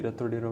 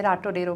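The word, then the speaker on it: Ratodero: इट्स रत्तो डेरो. रत्तो डेरो. मैं राटो डेरो pronounce कर रही थी उसको बैठ के, बिकॉज अंग्रेजी में पढ़ा था.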